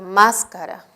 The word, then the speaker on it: máscara: sílaba K, y además aparece la palabra máscara, que es idéntica, tienen las mismas consonantes y las mismas vocales, pero el acento se ha desplazado a una sílaba anterior.